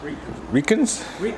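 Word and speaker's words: Riken: wheels are actually reikins r-i-k-e-n i think it's pronounced ricans mesh so they are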